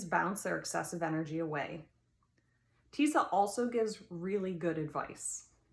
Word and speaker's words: Tisa: label off the bottle tisa rhymes with lisa has been my nearest